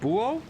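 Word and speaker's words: búho: Buho. H is silent in Spanish. Buo, tecolote, and lechuza.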